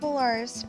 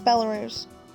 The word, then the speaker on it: Belarus: see I thought okay I thought Belarus because you know it's that kind of area you know it sounds like that's how you would say it but it's Belarus that's okay um I know